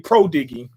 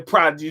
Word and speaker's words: prodigy: It looks like it say prodiggy. That's how it's spelled, prodiggy. Yeah, he's a prodigy.